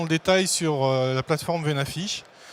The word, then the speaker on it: Venafi: détail sur la plateforme v n'affiche on ne soyez pas choqué si vous entendez aussi parler de van a failli parce que les américains prononce veine a failli épaves et nafie et qu'est ce que